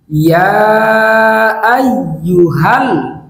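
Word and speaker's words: يا أيها: ইয়া আই ইউ হাল, এই শব্দের উচ্চারণ হচ্ছে ইয়া আই ইউ হাল। ইয়া আইয়ুহাল, এই শব্দের অর্থ হচ্ছে হে।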